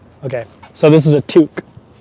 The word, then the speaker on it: toque: me that one time it's a toque it's pronounced toque in uh in uh okay so this is a toque not a beanie it's a toque am I